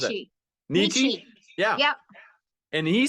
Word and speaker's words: Nietzsche: How do you pronounce that? Nietzsche.